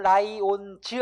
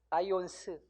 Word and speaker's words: 라이온스: 11번 자 고유명사 뒤에 철자 S가 끝나는 경우에는 자 이거를 즈로 하지 않고 어떻게 발음한다? 스로 발음하는 것이 맞습니다. 그러니까 삼성 라이온즈 아니고 뭐라고 해야 돼요? 라이온스.